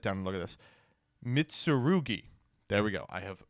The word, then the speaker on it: Mitsurugi: card is tributed you can Target a uh mitsuru okay I'm just going to have to sit down and look at this mitsurugi there we go I have now mastered the